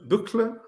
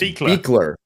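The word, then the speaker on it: Buechler: Buchler? It's Beekler. The U is silent and the CH is a K, and it's derived from Buchler with like an umlaut, and they at Ellis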